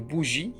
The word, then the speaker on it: bougie: Le E muet peut se trouver à l'intérieur d'un mot, ça veut dire au milieu, comme gaiement, dont le nom est la gaieté, ou en fin de mot, comme une bougie, vous voyez avec moi,